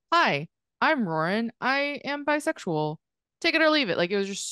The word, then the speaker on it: Ruoyun: of like hi I'm Lauren I am bisexual take it or leave it like it was just so like roaring Asian American you pronounce my name like roaring like Lauren with an R don't try to I'm